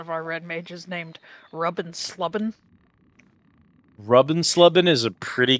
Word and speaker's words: Rubbin Slubbin: Sees one of our red mages named Rubbin Slubbin. Rubbin Slubbin is a pretty good name That's for a red mage. That's spelled RUBN SLUBN.